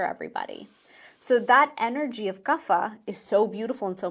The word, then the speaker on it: Kapha: In the West, we pronounce it Kapha.